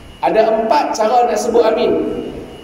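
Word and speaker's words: آمين: empat cara nak sebut Amin pertama Amin a tu dua harakat Min tu enam harakat Amin tu bacaat pertama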